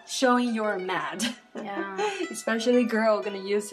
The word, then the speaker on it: 吗: Ma is a neutral tone.